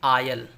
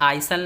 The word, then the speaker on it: aisle: Example है AISLE, आयल, देखिए इसमें आइसल नहीं पढ़ेंगे, आयल, बगली रास्ता।